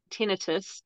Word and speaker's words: tinnitus: wherever you're listening from Liam says tus I say tinitus and that's just just the I it it's it's a dialect thing it's like it's like we say water and Americans say water you know it's like